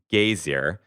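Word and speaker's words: Geysir: water there that uh the icelanders pronounce something like gazer um it's g-e-y-s-i-r and uh it used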